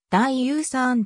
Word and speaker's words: 大嶼山: 代書は大島の違広東語でダイユーサーんと発音する所は観光今後では